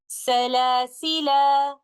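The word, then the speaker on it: سلاسلا: The first of them is stopping with alif and pronouncing the word like this, Salasila. And the second one is dropping the alif and reciting the lam with a sukoon like this, Salasil.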